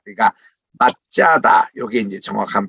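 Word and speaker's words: מצדה: 이렇게 표현한 것도 편의상인데, 원칙으로 말하면 이게 사디니까 TS 발음이에요. 그러니까 짜 이런 발음이 납니다. 그러니까 맛짜다, 요게 이제 정확한 발음이에요.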